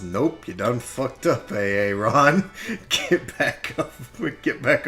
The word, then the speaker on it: Aaron: But it's pronounced Aaron. He's like, no, damn it! Are you fucking with me? It's AA Ron. No, it's Aaron.